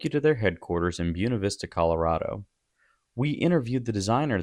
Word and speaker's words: Buena Vista: Yes, I know it's not the proper Spanish pronunciation. But if you call Buena Vista Buena Vista, people are going to know you're new.